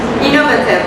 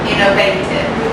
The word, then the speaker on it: innovative: Sometimes, I don't know if it's British, but sometimes we pronounce it innovative. Oh, I guess I don't know if it depends on where you come Exactly. from. Exactly. Yeah, this is an And so point. there might be different Yes. pronunciations.